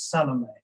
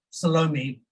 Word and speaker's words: Salome: add um you know i know the traditional pronunciation of her name is salome but in south africa you know we tend to squash all the bowel sounds underfoot so salome who did it which happens to